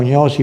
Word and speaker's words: gnosi: Che troviamo nella stessa parola gnosi, che noi diciamo gnosi, però che in greco non so se è gnosis, no? Lo pronunciano dura ma è diventato gnosi, che però vedete come